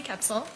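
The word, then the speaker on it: Koepsell: for the record I'm sorry full name and spell it for us it's capsil last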